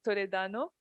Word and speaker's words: Toledano: Et bien sûr, je suis accompagnée par Monsieur Eric Toledano. C'est comme ça qu'on le Tout prononce.